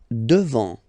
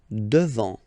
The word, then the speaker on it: devant: Devant. Final T not pronounced. Devant. Devant.